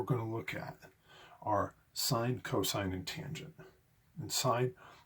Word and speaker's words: sin: You're going to see this abbreviation, but that's pronounced sine.